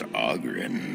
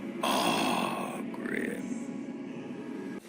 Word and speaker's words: Oghren: time I'm sorry what the name's augin by the way but the ladies pronounce it a grim so what are you